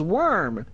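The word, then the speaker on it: wyrm: it a worm yeah that's what it's pronounced worm but the thing is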